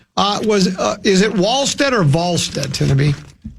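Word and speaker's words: Wallstedt: And then I think they won, uh, was, uh, is it Walstead or Valstead? Tabby. It's spelled Wallstead, but it's pronounced Vstead.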